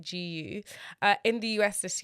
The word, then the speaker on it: GU: called gu and it's spelled with a letter G and U and pronounced like gu uh in the US